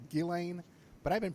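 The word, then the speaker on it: Ghislaine: woman hates that well she shouldn't have put that s in her name if she didn't want people mispronouncing it so well anyway what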